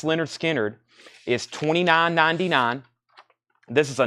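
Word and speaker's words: Lynyrd Skynyrd: Vaden police 44.99 74 Tara Holt Leonard Skynyrd pronounced Leonard Skynyrd is 29.99 this is a non-gate fold MCA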